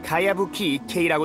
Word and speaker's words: 가야부키 이케이: 그건 가야부키 이케이라고 읽는 거야.